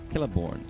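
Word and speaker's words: Celeborn: So, Lord of the Rings, they have things like Kelliborn, Kellimborg, Kellbront, and it's all C E L, but it's pronounced like a K and it it like with me.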